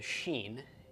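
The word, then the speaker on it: שׁ: a dot above it and if the dot is above it and to the right it is a sheen and it is pronounced as we would pronounce our English sh-shut and if the dot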